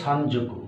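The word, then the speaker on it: 三足: যদি 3 জোড়া চান তাহলে কি হবে, সান যোগ সকু। উচ্চারণটা হবে সান যোকু, ন আর স জ হয়ে যাবে, সান যোকু।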